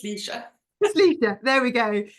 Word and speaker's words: Lecia: her her name is lesia is that how we pronounce your name by the way that's what I've been saying but how do you say your it's just Leisa just Leisa there we